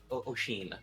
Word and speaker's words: Oisin: Oshin, yes.